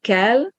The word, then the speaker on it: kel: So kell with a short L means to rise.